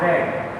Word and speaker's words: read: In past form and in past participle form we read as read. That's mean past form और past participle form में read की spelling तो same होती है READ, लेकिन हम उसको पढ़ते read है.